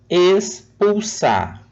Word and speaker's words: expulsar: Expulsar. Espumar. Viram que a primeira sílaba ela tem o mesmo som?